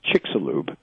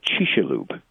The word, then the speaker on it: Chicxulub: of the crater well in English people say Chicxulub or Spanish usually in Mayan they would actually say she Shalhoub because the CX is an SH sound in mind then